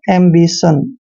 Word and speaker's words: ambition: TION को अब हम पढ़ रहे हैं सन, एम्बिशन।